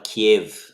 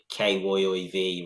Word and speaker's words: Kyiv: I've seen it in the Ukraine as well, Kiev. It's not Kiev the way we always pronounce it. They're going back to KYIV rather than KIEV.